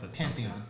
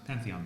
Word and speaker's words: Pantheon: called, it's not the Parthenon, but it's the Pantheon. Pantheon, thank you.